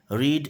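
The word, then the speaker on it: read: बता दूँ आपको कि रीड जो होती है इसकी सेकंड फॉर्म भी रीड की सेकंड फॉर्म रेड होती है, रीड की सेकंड फॉर्म होती है, उसका स्पेलिंग तो सेम होती है लेकिन उच्चारण अलग अलग होता है, रीड रेड रेड।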